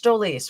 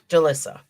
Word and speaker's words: Jolissa: It's Jolise, right? I don't want to say her name wrong. Jolise. I'm thinking Jonice. It's Jolise. Jolissa? Someone help me out here. Jolissa? Jolissa. Thank you. Jolissa.